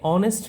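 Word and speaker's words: honest: অবশ্যই দা বলব আমরা কিন্তু আমরা যদি এখানে অনেস্ট লিখি এইচও এনই এসটি অনেস্ট আমরা লিখেছি অনেস্ট ব্যবহার করেছি এইচ বাট উচ্চারণ করতে গেলে আমাদেরকে বলতে হবে অনেস্ট ব্যাপারটা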